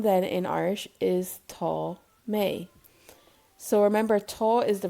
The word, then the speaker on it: mé: Tá mé. May pronounced like the month of May. Can you now say I am in Irish? Tá mé.